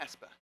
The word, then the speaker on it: PESPA: enhanced single page apps it rhymes with Vespa it's a pespa how many of you